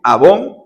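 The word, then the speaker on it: עוון: Pero la palabra abón, así como esos productos de belleza, abón que le dicen eon abón con acento en la o es iniquidad, pecado, maldad, perversión.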